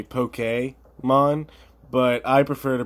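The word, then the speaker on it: Pokémon: the way I realize I'm saying Pokemon and it's actually poke a Mon but I prefer to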